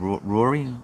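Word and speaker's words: Ruairi: And today's email from the founder, a pleasant enough Scottish chap called Rory. It's spelled R-U-A-R-I. It's a weird spelling.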